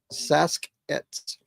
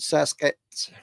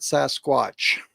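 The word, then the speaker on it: Sasq'ets: Saskets. Sounds Native American, doesn't it? Saskets. That's how it's pronounced, not Sasquatch. That's how some reporter said it. But the Pacific Northwest, in their Pacific Northwest languages, it's Saskets.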